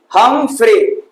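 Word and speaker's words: Humphreys: हमफ्रे वाले, ठीक है, हमफ्रे सीरीज दिखी थी, हमफ्रे, ठीक है, उस तरह से उसको प्रोनाउंसिएशन उसका करते हैं, लेकिन हम लोग के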